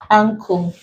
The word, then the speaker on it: ankle: this, the N has to come before a k sound. So not letter K, but consonant K. So it could be in the form of C or K or CH, as long as you pronounce it k, X. So as long as you pronounce this letters in words as k, and you have letter N coming before it, we classify it under the ng.